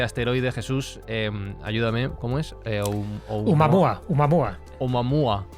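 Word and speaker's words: ʻOumuamua: Oumuamua. Oumuamua. Es una palabra hawaiana. Oumuamua. No me sale. Sí, más o menos. No sé cómo se dirá en hawaiano, pero bueno. No, lo hawaiano. estás pronunciando bien. Oumuamua.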